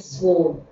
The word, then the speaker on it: sword: mistake for a poignant sword sword the W is not pronounced again so a solitary